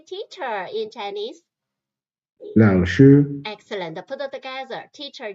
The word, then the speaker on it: 老师: 老师 the pronunciation, you can put the English word lost nearby. Lost. 老师 lost. You think about me as the teacher, Jiang. I can help you. You will not be lost in the jungle. Lost nearby is just to try to help you to remember the pronunciation.